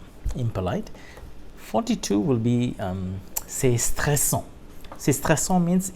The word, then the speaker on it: stressant: 42 will be c'est stressant. C'est stressant means it's stressful. Voilà. C'est stressant. C'est stressant. Voilà. It's stressful. C'est stressant. Nasal sound again. C'est stressant. Voilà. The NT is not pronounced.